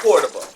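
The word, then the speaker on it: Córdoba: Now, is it Cordoba or Cordoba? It's Cordoba. Cordoba.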